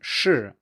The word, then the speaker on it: shi: as we discussed earlier, that sound is not pronounced the same in, say, Mandarin shi and English she. These are two different sounds, but they are written the same way.